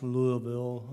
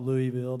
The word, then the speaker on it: Louisville: And it is pronounced Louisville, I believe, right? Not Louisville.